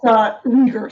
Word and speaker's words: Riegger: Today, we're doing a special lesson with Maria Riegger. Is that correct pronunciation, or is it? It's Riegger. Sorry, it's a weird German name.